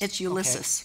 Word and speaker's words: Ulysses: I mean, you started in Ulysses, Kansas. It's Ulysses. Okay. Ulysses, okay. Everybody mispronounces it. Like, yeah. Ulysses S. Grant, okay?